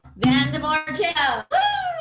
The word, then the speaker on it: Van de Mortel: so let's welcome to the stage today janelle van de martell hi hey thank you so much and you pronounced my last name correctly thank you yes